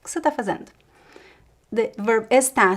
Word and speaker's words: fazendo: Fazendo, the last syllable almost disappears as well.